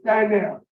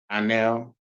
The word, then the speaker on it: Dionell: Okay, so you pronounce it with, like you didn't have an I, it's Dionell. Dionell. Okay, and how are you pronouncing it? Dionell.